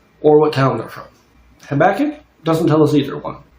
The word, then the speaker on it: Habakkuk: Habakkuk. Sometimes pronounced Habakkuk, but I prefer Habakkuk.